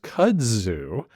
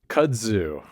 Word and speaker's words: kudzu: How do you say it again? Kudzu. Kudzu. Especially in the south, you say kudzu.